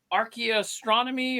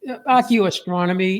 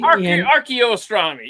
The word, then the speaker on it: archeoastronomy: show up but the the term was um what was it Arch astronomy or ar what was it that is that's a cool did I even pronounce that what is it exactly it's uh archeoastronomy archeoastronomy yeah I love that it